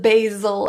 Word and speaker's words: basil: Radio, favorite, April, agent, angel, and basil. There are 2 pronunciations of basil as well. If you prefer to say basil, that is another option.